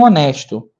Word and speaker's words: honest: Meu filho cresceu e se tornou um homem honesto. Então, esse honest, a letra H, ela é uma silent letter. Então, não tem som.